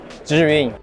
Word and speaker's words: Zhiyun: Zhiyun.